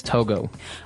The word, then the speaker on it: Togo: Right, but it's not to go, it's Togo. Or as my French-speaking friends would say, Togo.